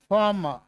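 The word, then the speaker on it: farm: आर के बाद क्या है? एम। ये क्या है? कंसोनेंट है। क्या है बच्चों? कंसोनेंट। तो इट हैज टू be kept silent. इसको क्या रखना है? साइलेंट। क्या बोलेंगे इसको? फॉर्म।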